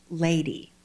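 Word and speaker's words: Ldy: our dead daughter's birthday her name was l d y pronounced lady we adopted her from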